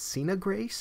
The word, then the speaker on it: Sina Grace: Its writer was, I think it's Sina Grace, that's how it's pronounced, Sinagrace, and the penciler is Alessandro Vitti.